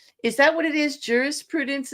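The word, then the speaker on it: jurisprudence: Jurus Prudence instead of Judas Prudence.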